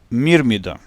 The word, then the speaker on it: Myrmidon: letter is Y, but letter Y in Illyrian language is spelled as I, so the word will be pronounced as Myrmidon.